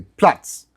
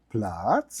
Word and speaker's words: Platz: There is a reason why a dog goes down fast when you say Platz. Yeah. Because the sound is like blah.